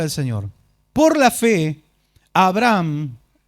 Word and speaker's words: Abraham: Señor por la fe Abraham o mejor pronunciado Abraham quien había recibido las